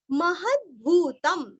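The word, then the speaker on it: महद्भूतम्: का उच्चारण आधा म महद्भूतम महद अभी यहाँ पे द आधा पढ़ना है महद नहीं करना है महद्भूतम अनुस्वार का उच्चारण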